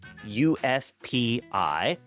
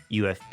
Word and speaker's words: UFPI: with Oro Commerce customer ufp Pi I have been informed that the I is silent they prefer to go by ufp United forestry Products they